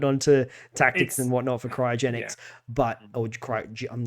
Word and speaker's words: cryogenics: tactics and whatnot for cryogenics. But I'm not even saying it right. Is it cryogenics or cryogenetics? Cryogenics. Okay, cryogenics. Okay. Like cryogenic storage.